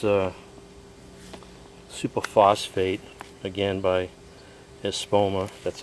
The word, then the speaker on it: Espoma: bag each here's uh super phosphate Again by espoma that's how you pronounce that fast acting phosphate and it says